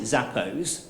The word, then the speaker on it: Zappos: Anybody heard of Zappos or Zappos? Yeah, shoes. Yeah. Zappos, I pronounce it Zappos, are a very successful American online shoe retailer based in Las Vegas.